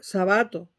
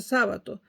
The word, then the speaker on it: Sábato: el túnel de sábato sabato en general pero sabato así se pronuncia no es una palabra esdrújula pero en Venezuela la convirtieron en esdrújula y todo el mundo dice sábato Entonces voy como todavía